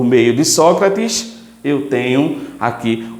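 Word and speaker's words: arché: Algumas pessoas pronunciam ache, mas o correto em si é o aqui, onde eu tenho diversas maneiras de se escrever também.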